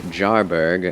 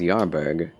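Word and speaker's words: Jarburg: like that but so I always want to say jarberg as yarberg but it's literally a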